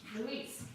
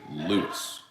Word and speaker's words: Louis: okay so i gotta hurry i'm just throwing that oh really eric's got boyfriend the nail salon guy's name is luis uh it's actually lewis there's a man named